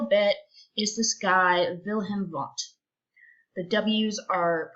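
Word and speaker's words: Wundt: for a little bit is this guy wilhelm vaughn the ws are pronounced like these in case you were wondering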